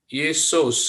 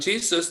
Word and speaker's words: Jesus: Tetapi kalau orang Jerman nggak akan bilang Jesus, dia akan bilangnya ini bacanya adalah Yesus bacanya, walaupun tulisannya Jesus. Tapi dia akan bacanya Y, huruf Yod, ini jadi Y.